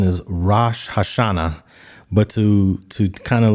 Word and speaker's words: Rosh Hashanah: it is it's uh I believe the proper pronunciation is Rosh Hashanah but to to kind of like undermine a